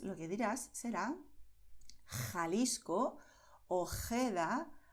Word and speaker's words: Ojeda: Por eso, en muchas zonas donde se habla el español, los nativos dirán Jalisco, Ojeda, Jipijapa, Tajo, Tajuña, Gerona, Gijón. ¿Ves? Es garganta, pero no estamos forzando.